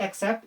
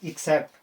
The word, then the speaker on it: except: I like reading except this one, because except, not accept, except. Guys, pointing not accept is different. ECCEPT, that is accept. It's except. Its correct pronunciation is except.